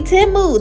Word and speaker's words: Temu: I have never heard timu say how they pronounce timu but it's actually timu they said it on the Super Bowl commercial